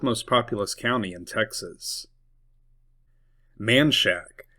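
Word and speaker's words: Manchaca: Manshack. It looks like it should be called Manaka, but everyone in Austin calls it Manshack.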